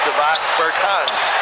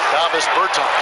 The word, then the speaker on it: Davis Bertans: Oh, well, now, at this point in my life, it's Davos Bertans. Is that how you say his name? Davis Bertans.